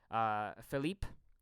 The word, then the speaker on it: Philippe: Philippe would be the Quebecois pronunciation of Philip. It's just a French pronunciation, really.